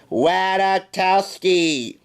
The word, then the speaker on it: Ratajkowski: I'll make it easy for you guys but is silent it's Emily wada Tao ski oh excuse me Emily Ratajkowski hey g-man I must add up well thank